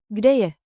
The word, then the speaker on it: Kde je: Think K D Y. Short, clear, friendly. Rhythm trick. Kde je?